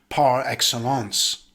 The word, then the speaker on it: par excellence: the noun or verb in english it's usually pronounced with a hybrid french accent par excellence let's look at some